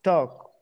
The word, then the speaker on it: talk: Let's talk. Talk. No se pronuncia la L. Talk. Like T-O-K, talk. Like TikTok, talk.